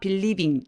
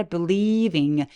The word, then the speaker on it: believing: 벌려 주세요 Jack believing 얘도 굉장히 긴 음이라 beling 아니라 believing 굉장히 길게 발음해 주세요 believing in the Magic